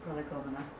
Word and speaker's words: Prolegomena: Prolegomena, there we go.